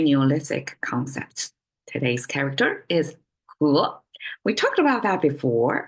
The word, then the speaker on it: 禾: He in English, if you see the sound, it's like a he, right? But Chinese pronounce the e sound as and it's a second tone, so it becomes he.